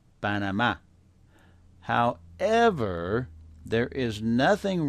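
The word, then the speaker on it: Panamá: saying P we'll say p instead of P banama however there is nothing wrong with saying Panama some of the time because that's normal Spanish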